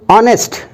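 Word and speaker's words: honest: ऑनेस्ट में एच लगता है साथियों, लेकिन एच साइलेंट रहता है, क्योंकि ये जनरली आपका जो है फ्रेंच से निकला हुआ एक वर्ड है, इसलिए एच आपका साइलेंट हो जाता है।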